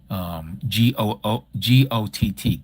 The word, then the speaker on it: Gott: Queen Got is the Germanic way of spelling it. Yes, and that's how they pronounce it too. GOTT, Got, in the German tongue.